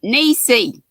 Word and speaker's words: Niecy: So you say it, Niecy. Niecy. I can remember how to spell it. I say N-I-E because it's like pie. Yeah. And then S-E. I remember how to spell your name, and Niecy's just easy.